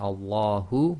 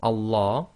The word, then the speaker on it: Allah: So when we pronounce the name of Allah with no preceding sound, then you read the Hamzatul Wasl as if it's got a fatha. That's why we've got al.